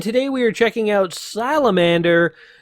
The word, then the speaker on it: Salamander: we are checking out salamander / Cera Mandor yes according to Wikipedia you can pronounce it either way I think it becomes from the fact that this is a Japanese game and in the Japanese dialect you don't have separate syllables for R and L so sera Mandor